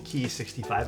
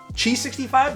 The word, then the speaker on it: Qi: I'm going to call it the key 65. I assume that's how you pronounce it. No one's corrected me. TheQi Chi 65. There we go. Someone literally just corrected me as I said that. So, the CH65. G65.